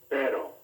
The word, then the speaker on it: pero: has the same sound a single r in the middle of a word has just one flap of the tongue compare perro pero carro taro which word